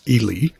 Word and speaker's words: Ely: to go from Ely I've been pronouncing it Eli but somebody that's from there tells me it's Ely so Ely Nevada to Twin